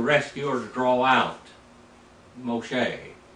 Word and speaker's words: Moshe: or to draw out Moshe is how you say it in the Hebrew Moshe the rescue or